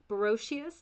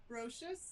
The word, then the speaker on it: Broscious: We're here with Brochious. Did I say that right? Broscious, Broscious.